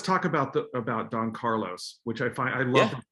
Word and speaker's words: Carlos: then you in it in french you have to think carlos carlos and with the oh with the accent on the last syllable so it does change